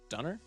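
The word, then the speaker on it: Döner: Dunner. Dunner. Hang on. How is this pronounced? I know what it is. Google. How is this pronounced? Pronunciation German. Hello. Donner kebab.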